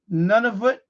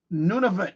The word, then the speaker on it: Nunavut: So it's Eureka, Ellesmere Island, Nunavut. How you pronounce it? Nunavut, Canada. Nunavut, right?